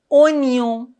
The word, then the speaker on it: oignon: C'est un oignon. Oignon. On ne doit pas dire oignon, non. Oignon. Oignon.